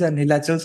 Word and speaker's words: Nilachal: And no, I actually I pronounce it in English as Nilachal, but then in Odia it becomes Nilanchola.